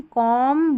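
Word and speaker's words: comb: Lamb, थम, क्लाइम, कॉम, Baum, तो यहाँ पर बी साइलेंट है।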